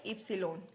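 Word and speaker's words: Ypsilon: वे एक्स इक्स एक्स एकस एक्स एकस वाई एप्सन वाई को क्या बोलेंगे एप्सन जड को बोलेंगे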